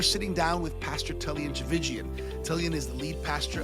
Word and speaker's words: Tchividjian: A lot of people they spend so much time working on the last name, Tchividjian. It rhymes with religion. Tchividjian, it rhymes with religion.